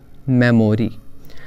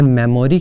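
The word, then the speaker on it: memory: रखते हैं कि इसमें मेमोरी कितनी है, but correct pronunciation is नॉट मेमोरी, इट इज़ मेमरी।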